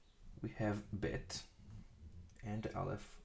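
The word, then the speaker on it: בית: this letter, inside the Bet. That's because this letter has two different pronunciations. First of all, Bet, B, like the English equivalent, B. So with the dot, we read it as B, Bet.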